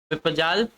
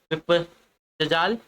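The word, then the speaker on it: विपज्जाल: जबका sorry ऐसे गलत पढ़ रहा हूँ, इसका सही उच्चारण देखिए, विपजजाल जो आपका दिया गया विपजजाल शब्द का सही संधि विच्छेद बताइए, आपका क्या हो जाएगा।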